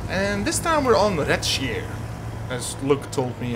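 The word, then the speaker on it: Redshire: And this time we're on Retschier, as Luke told me how to pronounce it.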